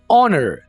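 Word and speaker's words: honour: इज़्ज़त को इंग्लिश में ऑनर कहते हैं, यहाँ पर आप एच को साइलेंट रखेंगे, आप एच को प्रोनाउंस नहीं करेंगे। ऑनर, I have got so much ऑनर here, यहाँ मेरी बहुत ज़्यादा इज्जत है।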